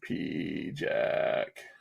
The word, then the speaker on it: PIJAC: Where is P Jack? Why is it so hard to find P Jack? Because it's spelled Pijac.